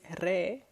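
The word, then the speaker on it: ر: easier re so the persian r is re a little bit like italian or less dramatic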